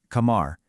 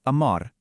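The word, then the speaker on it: قمر: In classical Arabic, it's kamar, but many Egyptians say amar.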